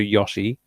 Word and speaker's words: Yoshi: They'll probably just do Yoshi. I'm gonna get shit for saying that. It's Yoshi, it's Yoshi. The fucking character, Yoshi, says his own name and he pronounces it Yoshi.